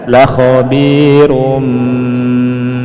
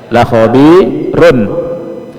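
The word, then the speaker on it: لَخَبِيرٌ: Perhatikan di khobir ada tanwin bertemu ba. Ya. Dibacanya la khabirum bis gitu ya.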